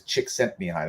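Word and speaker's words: Csikszentmihalyi: it's called it's called his last name is Chick sent me high that's how you pronounce it oh yeah I have a positive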